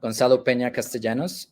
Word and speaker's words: Gonzalo Peña-Castellanos: So yes, for the correct, in case you were wondering, Gonzalo Peña-Castellanos, and the city that Reshama was pronouncing is Bucaramanga, which is my hometown, and